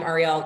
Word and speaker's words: Arielle: So it's Ariel. Yeah, it's Ariel Investments. I'm Arielle. Trust me, the jokes are endless every day at the firm, Ariel at Ariel, but it is spelled differently.